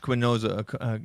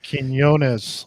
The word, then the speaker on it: Quinones: But Josh Quinoza, is that how I pronounce his name? Quinoza? Quinoza? Anyway. Quinones. Sorry.